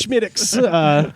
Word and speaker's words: Smithwicks: It's spelled Smithwicks, but it's Schmittix.